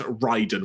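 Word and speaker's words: Raiden: we have now had it confirmed it is pronounced as Ryden which I think is what we figured out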